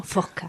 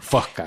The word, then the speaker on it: Fosca: Sí, en murciano genuino, Fosca. Fosca. Porque el murciano tenemos un problema con las consonantes. O sea, cuando se nos juntan dos consonantes no podemos decirlas.